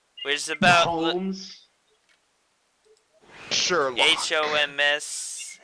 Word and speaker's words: Homs: H-O-M-S. How do you pronounce it?